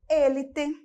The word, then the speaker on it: élite: Nós vamos ter elite e olha aqui, élite.